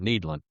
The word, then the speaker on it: Nederland: And by the way, it's Netherland. It looks like Netherland, but we get all sorts of pronunciations. But if you want to sound like you're from here, Netherland or if you've been here a long time, needland.